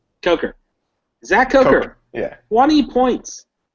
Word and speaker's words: Coker: How do you pronounce his Coker, name? Coker.